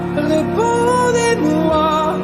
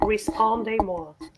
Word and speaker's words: Répondez-moi: Start ma langue au sein, répondez-moi. Pas de langue de paix, répondez-moi. Excuse me, Stuart, but I'm from the pronunciation police. And it is Répondez-moi, not Respondez-moi.